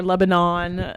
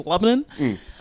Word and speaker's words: Lebanon: Or Lebanon. The locals have I've been a little lazy with the pronunciation of it, so it's been turned into Lebanon.